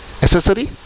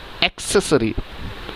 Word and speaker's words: accessory: कैसे प्रोनाउंशिएट करते हैं इसे? एसेसरी? नो, the correct pronunciation is एक्सेसरी.